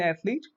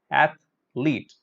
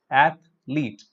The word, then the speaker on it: athlete: So what is the smallest unit of sound here in athlete? There are two syllables here. Ath is the first syllable. Leet. Athlete. Athlete.